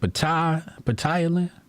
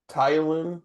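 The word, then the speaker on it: ptyalin: Patelin. Tylin. Yeah, the P is silent.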